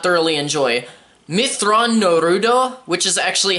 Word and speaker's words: Mitth'raw'nuruodo: this novel that i did not thoroughly enjoy mitth'raw'nuruodo which is actually how you pronounce his full name is exactly what i